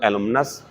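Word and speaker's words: alumnae: छात्र कोई लड़का सिंगुलर एलुमिनस ज्यादा छात्र है लड़के तो एलुमनी एक लड़की है किसी संस्था की पूर्व छात्र तो एलुमना और अगर ज्यादा है तो एलमिना ही पढ़ेंगे ई को साइलेंट कर देंगे य पर ठीक है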